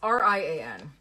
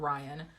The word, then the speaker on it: Rian: My brain is seeing rain, but it's R-I-A-N, right? So I look it up, and lo and behold, you can pronounce it both ways, Rian and Ryan. And Rian is the one I'm going with.